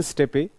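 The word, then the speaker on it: steppe: it is called Step it can be pronounced step also Central Asian step it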